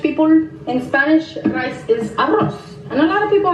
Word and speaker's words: arroz: Because Spanish people, in Spanish, rice is arroz.